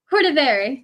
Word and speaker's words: Cordivari: How do you pronounce it? Cordivari.